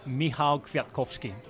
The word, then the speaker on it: Michał Kwiatkowski: We'll pass over to Rob to pronounce that. Michał Kwiatkowski.